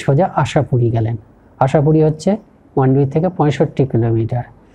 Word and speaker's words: মান্ডবি: আমরা বলি মান্ডবি, ওরা এই বটা উচ্চারণ করেন না, মান্ডুই এরকম হলে।